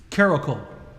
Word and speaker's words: Carolco: Is that how you pronounce it? Carolco. Carolco.